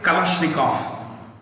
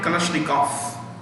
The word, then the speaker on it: Kalashnikov: Russian में और typically Slavic languages में, Eastern European languages में, if a word ends in with OV, typically V, it's pronounced with an F. It's pronounced with an F. So gap, automatic Kalashnikov.